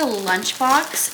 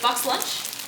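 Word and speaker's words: BoxLunch: We went to Lunchbox and they had on sale. Box. Is it box lunch?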